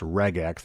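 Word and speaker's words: regex: And at one point, Cory talks about doing a reax. Uh sometimes pronounced regax. That's re g x, which is short for regular expressions.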